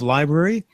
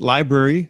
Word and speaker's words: LBRY: talking it's lbr Y.O we pronounce it library at least I hope